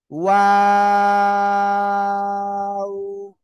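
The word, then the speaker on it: و: ওয়াও অক্ষরটা, এই যে দুই ঠোঁট, দুই ঠোঁট গোল করিয়া তিন আলিফটা নিয়ে উচ্চারণ করতে হয়, ঠিক আছে?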